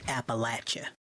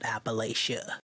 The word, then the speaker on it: Appalachia: to be rude but it's pronounced Appalachia not Appalachia all right and one